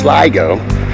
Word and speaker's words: Sligo: But I am in Sligo, pronounced Sligo, not Sligo, Sligo.